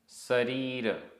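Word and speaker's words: सरीर: शरीर शरीर शा नहीं है सा है शरीर।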